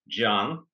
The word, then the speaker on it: Can: My first name is pronounced as Can because the letter C is pronounced like J in Turkish.